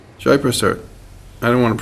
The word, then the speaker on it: Jaiprasad: How do we pronounce it? Jaiprasad. Jaiprasad.